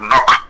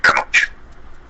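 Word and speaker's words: Knoche: Allí, en la época, a principios del siglo XIX, llegó un señor alemán, cuyo apellido era el doctor Nock, se escribe K-N-O-C-H-E, pero acá en Venezuela quedó como el doctor Canoche.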